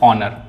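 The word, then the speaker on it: honour: ऑनर। यहां पे एच क्या है?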